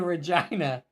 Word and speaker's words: Regina: I was flying to Regina I was fairly sure you're not pronouncing that correctly but yeah that is actually how they pronounce it okay sweetheart I think